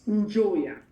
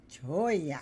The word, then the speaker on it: Njoya: name for our viewers it it's Joya Joya okay yeah think about it Joy somebody who's enjoying so enjoy right so that's my name